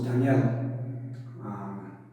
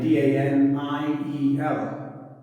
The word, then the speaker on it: Daniel: So my name, D-A-N-I-E-L, Daniel. But how I pronounce it with my accent, Daniel. It's almost like it was Y-U-L, D-A-N-U-L, Daniel.